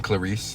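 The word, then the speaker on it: Clarisse: Yeah, I always read her name as ClariS rather than Clarice.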